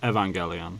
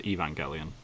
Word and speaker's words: Evangelion: is but I know in Japanese it's evangelon yeah yeah which which is how my name is pronounced so yeah in American it's Evangelion Evangelion yeah I like it